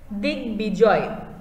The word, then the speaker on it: দিগ্বিজয়: দিগ্বিজয়, দিগ্বিজয় একটি সন্ধিজাত শব্দ, বলা হচ্ছে সন্ধিজাত শব্দে যুক্ত ব ফলায় বয়ের উচ্চারণ বজায় থাকবে, মানে এখানে কিন্তু আমরা